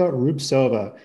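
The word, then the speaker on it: Rubtsova: And let's check out the brilliance of Olga Rubsova. She's got that crazy silent T in her name.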